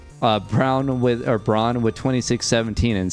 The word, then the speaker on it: Braun: I'm going to say Braun, but look, I'm a Nuggets fan. I have Christian Brown stuck in my head. So every time I see that, I actually pronounce it Brown now.